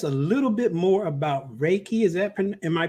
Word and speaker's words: Reiki: So tell us a little bit more about Reiki. Am I pronouncing that correctly?